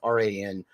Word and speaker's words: Ran: you guys have ever seen ran or Ron however you want to pronounce it it's raan um that movie was